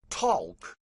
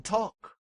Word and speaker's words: talk: pronounceable producing that's right talk but folks later deemed the l unpronounceable and that's why there's a silent L in talk and after silence comes